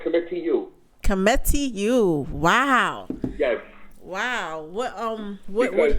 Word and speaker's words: Kemitu: It's pronounced Kemitu.